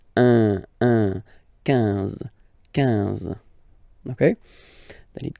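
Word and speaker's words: onze: 11. Okay, so O plus N give you the sound on. 11.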